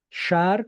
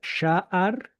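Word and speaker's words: שַׁעַר: Shar con el acento en la A. Primera. Shaar significa puerta, portal, plaza.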